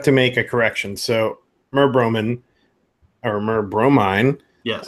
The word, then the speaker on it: merbromin: So merbromin or merbromine.